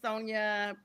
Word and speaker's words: Sonja: And it's Sonia before my last name gets butchered.